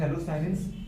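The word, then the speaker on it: phthalocyanine: थैलोसाइनेंस, दीदी बात करें ये पी साइलेंट है बेटा, तो इसको बोल सकते हैं थैलोसाइनेंस, बुढ़े बात का एंथ्रासीन, एंथ्रासीन कोई बेंजीन, नैफ्थलीन, एंथ्रासीन।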